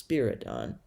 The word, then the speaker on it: Spiridon: I'd been pronouncing it wrong. It's Spiridon.